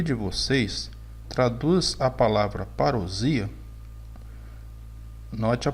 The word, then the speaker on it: parousia: Camilo disse: para início de conversa, a pronúncia da palavra é parousia, S com som de Z, com acentuação tônica no I.